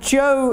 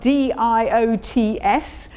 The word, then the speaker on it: diots: And Joe is spelt D-I-O-T-S, as most of my British friends would call them, Diots, but pronounced Joe.